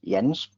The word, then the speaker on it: Jens: and I know that a lot of English people call me Jens or Jen, but it's Jens. It's pronounced with a Y because that's the way we do it here in Denmark.